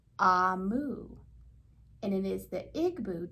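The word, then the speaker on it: Omu: a note to the reader um it is pronounced amu and it is the igbo term for queen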